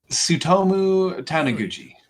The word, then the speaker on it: Tsutomu Taniguchi: Tsutomu Taniguchi. Dude, the T is silent there? The TS makes a sound, yeah. Well, you fooled me. Like tsunami.